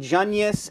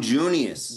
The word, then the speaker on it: Junius: latest book is Young Jus and it's Avail am I pronouncing that right Seth Jus no that's young Junius Junius I'm sorry I don't